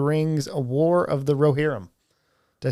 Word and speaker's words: Rohirrim: It depends on what language you're speaking it in. Sure. In English, it's Roherum.